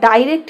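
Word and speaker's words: direct: অনেকে আমাকে বলে কি দিদি, এই ডিরেক্ট বা ডাইরেক্ট কি একই কথা? হ্যাঁ, ডিরেক্ট উচ্চারণ একটা আমেরিকান উচ্চারণ, আমেরিকান প্রনাউন্সিয়েশন, একটা হচ্ছে ব্রিটিশ বা ইংরেজদের প্রনাউন্সিয়েশন, কিন্তু ডিরেক্টও যা ডাইরেক্টও তাই, ডিরেক্টরও যা ডাইরেক্টরও তাই, মানে উচ্চারণটা আলাদা কিন্তু ওর ভেতরকার যে বাংলা মানে সেটা এক।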